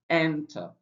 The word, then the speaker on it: enter: For example, we have this word here enter the stress syllable is not t. It's actually n. So it's enter. So we have enter. So not enter. Stress on the first syllable.